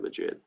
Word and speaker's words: Madrid: Don't say Madrid like I said Madrid. Madrid. All right, say it like that.